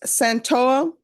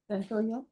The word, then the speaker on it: Santoya: Jesus Santoa. I know I'm mispronouncing his last name. Is it Santoya? Santoya.